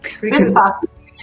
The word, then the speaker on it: bisphosphonates: Bisphosphonates, yeah. Bisphosphonates, okay, well, yeah, I mispronounced it.